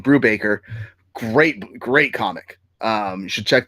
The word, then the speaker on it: Brubaker: Sleeper by Ed Brudbook. Sorry, I just butchered his name. Brubaker.